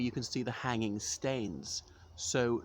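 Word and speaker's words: stanes: the hanging stains so not stained as in something which is a bit dirty but that some Scots dialect pronunciation of stone because in Scots dialect people usually just um change the vowel one vowel on each word so the hanging stones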